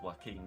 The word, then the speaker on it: Joaquin: Well, that doesn't, I mean, it's pronounced Joaquin, isn't it?